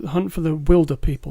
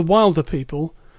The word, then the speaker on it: Wilderpeople: So that is Hunt for the Wilderpeople. Not Hunt for the Wilder People, Hunt for the Wilderpeople. Okay. That's important. Spelled like Oscar Wilde. Spelled like Oscar Wilde, pronounced Wild. Like wildebeest.